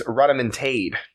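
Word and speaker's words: rodomontade: It's rotomontade.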